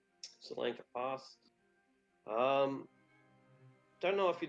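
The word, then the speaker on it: Tsolenka: Solenka Pass. That's you can see the writing here. It's spelled with a T, even though it's pronounced with an S. Solenka Pass.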